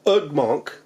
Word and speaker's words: Ugmonk: the puzzle I use ugmonk and that's like ug m o n k kind of like it sounds right ug monk I think that's how